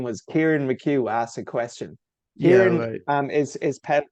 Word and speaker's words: Kieran: and some guy from Ireland his name was Kieran mchu asked a question Kier is is is spelled obviously with a k i e r a n the Irish version is just c i a